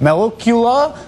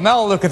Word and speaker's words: Melaleuca: US Chamber of Commerce and a CEO of mellow Kula incorporated a household consumer products company whose name I may have just butchered that there you go melaleuca thank you very much um Frank it's wonderful